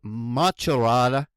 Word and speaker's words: Macerata: And I believe it's pronounced Macerata.